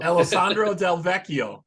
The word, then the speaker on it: Alessandro Del Vecchio: you have basis keyboardist uh I'll try to pronounce this correctly here Alessandro del Vecchio yeah yes good job and he's also producing